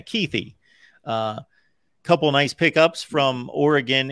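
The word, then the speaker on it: Kuithe: So there is an E at the end. Yeah, Keithy.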